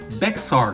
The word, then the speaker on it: Bexar: the county tax office and they might say Bexar County.